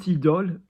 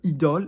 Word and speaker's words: idôle: So IDOLE, then notice that we've got the accent over the O, which is a bit of a nod towards the brand, yeah, Lancôme, and Aura.